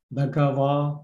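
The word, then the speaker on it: bhagavā: So in Myanmar it's called pronounced as a wa, but in international Pali pronunciation, va, bagava, like this. So not clearly to the wa, it's become wa and bagava.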